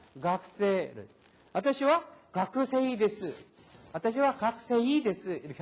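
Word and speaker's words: 学生: 각세. 니혼고노 센세. 에이고노 센세. 하이. 이렇게 해서 센세이, 각세이 이렇게 따로 발음을 하는 게 아니다라는 거에 주의를 하시기 바랍니다.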